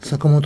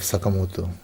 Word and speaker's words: Sakamoto: in the wrong way so I always introduce myself Sakamoto because it's almost impossible to for the westerners to pronounce but the right way in Japanese would would be to say sakamoto-san good now let's